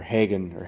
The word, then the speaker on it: Hagon: You get the your preload adjuster, a very nice unit made by the guys at Hagon, or Hagen. I think it's Hagon shocks. Rowwoods. I've heard it pronounced both ways, but I've heard it more or less Hagen.